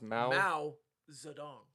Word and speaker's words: Mao Zedong: That's how it's pronounced. Mao Zedong.